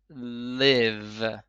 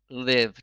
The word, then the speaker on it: Liv: and bet in English it comes out to be pronounced like the name live l i v live to live she represents